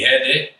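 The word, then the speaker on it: Rede: All right, so this company, Hede, by the way, R in Brazilian Portuguese is pronounced with an H, just so you guys know.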